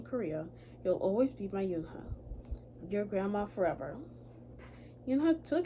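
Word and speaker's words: Unhei: "Yes, it's pronounced Unha. And it means grace," Mr. Kim added. "Unha," Joey said slowly, and this time perfectly.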